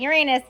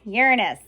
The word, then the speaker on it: Uranus: Not Uranus, Uranus. That is how Bill Nye pronounces it, so that is how I pronounce it.